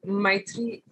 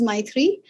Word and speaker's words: Maithri: on to expedia group my three is it my three i'm not sure yes you said it right hi uh you can